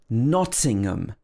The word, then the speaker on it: Nottingham: two is very similar it's not pronounced with ham it's um at the end nottingham again the first syllable is stressed nothing um so again